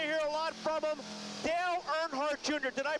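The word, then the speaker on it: Dale Earnhardt Jr: you're going to hear a lot from him Dale nhart Jr did I pronounce that right yes you did good job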